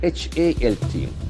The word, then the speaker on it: halt: The spelling is very tricky, H-A-L-T. But we have the O sound. Please check it. Halt. Like also, that ball.